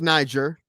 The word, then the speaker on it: Niger: Because the teacher's like, "No, that's not how it's pronounced. It's pronounced Niger."